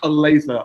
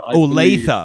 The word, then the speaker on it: Olathe: It's pronounced Olathe. Olathe.